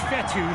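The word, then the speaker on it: Fetu: 43-yard line so coach fethu spelled f-e-t-u for the longest time i was pronouncing it coach fedo like feta cheese so let's just say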